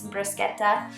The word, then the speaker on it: bruschetta: to put on to I guess I pronounced it wrong it's bruschetta yes so we do tomatoes